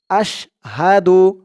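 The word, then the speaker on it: أشهد: রাহমানির রাহিম আশহাদু হাদু হামজা শিন জবর আশ আশ হা জবর হা আশ হাহা দাল পেশ দু আশহাদু আপনারাও আমার সাথে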